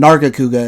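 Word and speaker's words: Nargacuga: of stuff yeah it it's uh karachi and nargakuga is what it's pronounced but i only know how to say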